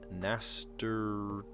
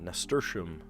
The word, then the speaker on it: nasturtium: Yeah, nasturtium. Nasturtium. I've heard people mispronounce it and they say nasturtium. It's not nasturtium.